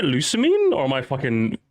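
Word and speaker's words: Lusamine: The villain Luzanime is very Luzanime? Luzanime? I have never heard someone. Isn't it Lucamine?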